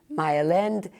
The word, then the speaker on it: Mile End: parce qu'après, c'était devenu Myland, et maintenant, il y a Myland et toutes sortes de variations dessus, mais Mylan, prononcé à la canadienne-française, c'est une désignation qui remonte très loin.